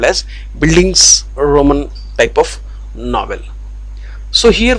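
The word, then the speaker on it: Bildungsroman: is buildings roman novel once again i will pronounce this word buildings roman novel the german world buildings roman indicates growth okay so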